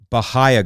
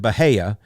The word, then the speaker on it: Bahia: Now, they all pronounce it Bahia, but you guys know I pronounce it Bahia grass. And I always will, because I'm from Pinellas County and we pronounced it Bahia. And that makes sense. Bahia, Bahia. There is no Bahia in there. It's Bahia. Okay? If you want Bahia in there, it's got to be Hay.